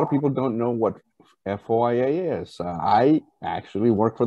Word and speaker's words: FOIA: your services uh foa so foia is pronounced foia and basically any record